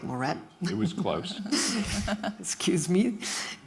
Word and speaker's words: Moret: Then in the middle, we have Blake Moret. He's chairman and CEO of Rockwell Automation. And I just realized I mispronounced your last name. It's Blake Moret.